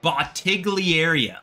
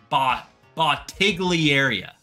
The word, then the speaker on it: Bottiglieria: It was called a But Bottigliaria, like bottle. Bottigliaria. It was spelled like bottle ligaria.